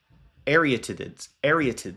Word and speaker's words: Arietids: It's the Arietids. It's the Arietids. It is the named after the constellation Aries.